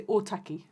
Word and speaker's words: Otaki: It's Māori Language Week, so we're going to say Otaki. Otaki. Which I believe is the correct how you say it.